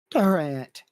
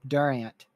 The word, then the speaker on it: Durant: You're saying dur R I N. Okay. Dur. Dur. No.